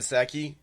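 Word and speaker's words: Psaki: this you know jen seki her last name p s aki the p is silent when we talk about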